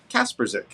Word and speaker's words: Kaspersick: on twitter at caseycaspersic that is how you say my last name kaspersick um i do appreciate